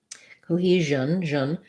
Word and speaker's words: cohesion: confuse and confusion so for cohesion stress on the he syllable it sounds like an o e and a this s is a z sound like genre or measure it's kind of like a voiced sh sound cohesion we're gonna basically